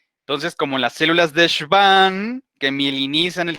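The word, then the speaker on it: Schwann: si van aquí tenemos la consonante w que la pronuncian como una uve theodore y van entonces como las células de serván que milk inicia en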